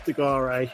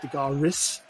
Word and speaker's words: Degare: It's Degare. A lot of them were like Degaris. It was just like, no, it's not pronounced like that. Degare.